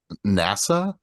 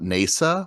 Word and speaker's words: NASA: that's become or like people have to pronounce it NASA not nesa where I'm like isn't